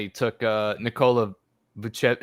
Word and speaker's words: Vucevic: He took Nikola Vucevic. How do you say it? Vucevic.